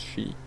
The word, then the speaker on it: Kyi: It's spelt Kye but pronounced she.